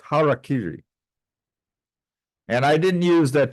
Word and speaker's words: harakiri: organization well another term that is frequently uh mispronounced and I will uh say Harry KY which sounds more like a uh a baseball announcer in Chicago uh it' be more properly pronounced harakiri and I didn't use that term harui because